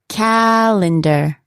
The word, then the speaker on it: calendar: the second syllable forget now where would the stress be on a word such as calendar can you guess it's on the first one again calendar the sound that we